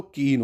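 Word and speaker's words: Cayenne: राजधानी क्या होगी दोस्तों कीन होगी क्या होगी कीन होगी सी ए वाई स्पेलिंग याद रखना ई डबल एन ई केन बोलते हैं इसको कीन ठीक है फ्रेंच गुयाना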